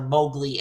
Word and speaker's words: Mowgli: One, I'm gonna give this 78, and two, the pronunciations are Mowgli and Shere Khan.